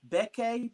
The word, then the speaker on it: Bekke: She is the CEO of Bekke Beauty.